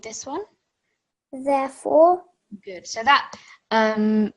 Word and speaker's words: ث: So for the letter Tha, if we go back to this is like when you say in English thin or thank you. So say these two words. Thin, thank you. Good. So that TH sound is a lot softer compared to the one that comes in Dhal.